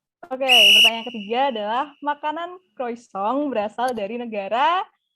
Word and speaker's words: croissant: BTW bacanya bukan croissant tapi croissant.